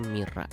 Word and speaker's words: Maira: dan imut tadi itu tulisan namanya Maira Y atau y kalau kalian Cuma bisa bahasa Inggris tapi dia itu sebenarnya dibacanya Mira Mira pakai Mira tomologi dari